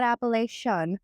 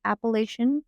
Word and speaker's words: Appalachian: But I don't want to say appalachin trail. There's no tea.